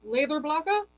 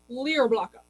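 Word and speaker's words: Leðurblaka: of the owners of yulfer and leather blocker or for the americans that can't pronounce anything from any other countries lear blocka which basically means wolf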